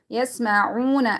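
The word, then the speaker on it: يسمعون: فَرِيقٌ مِّنْهُمْ يَسْمَعُونَ. Again, once again, waw is silent, and before that there dhamma. We're going to be stretching it according to one alif.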